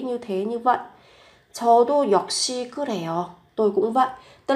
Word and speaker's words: 역시: 역시 các bạn phát âm là gấp đôi phụ âm lên.